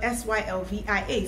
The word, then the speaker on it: Sylvia: My name is spelled SYLVIA, Sylvia.